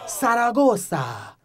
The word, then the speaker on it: Zaragoza: That's how you pronounce it, actually. Try it. Zaragoza. Zaragoza. You gotta get that Spanish TH.